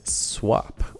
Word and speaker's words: Swapp: Okay, next up on our list is Swapp, or Swap, depending on how you want to pronounce it.